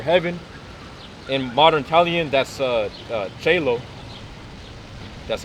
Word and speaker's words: cielo: In modern Italian, that's cielo.